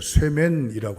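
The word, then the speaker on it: שמן: 여러분, 7장 1절에 이름이라고 하는 건 히브리어로 셈입니다. 셈. 기름이라고 하는 것은 히브리어로 쇠맨이라고 합니다. 약간 좀 뭔가 시옷 발음, 뭔가 약간 발음이 엇비슷하잖아요.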